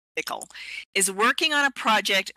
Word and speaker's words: Piql: Bendik Bridey from the company called Pickle, that's how you pronounce Pickle, is working on a project for preserving data,